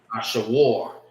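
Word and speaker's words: אשור: And this is how you say it in the Hebrew. All right. Ashawar is how you say Ashur in the Hebrew.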